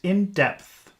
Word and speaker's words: in depth: you're taking a TOEFL or IELTS exam is indepth in depth that's actually that's a pretty difficult word for people to pronounce in depth but it's easy because all